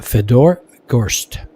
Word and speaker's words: Fedor Gorst: How do you pronounce your name? And Feder goes, Fedor goes, Fedor Gorst and then Smile just chuckled.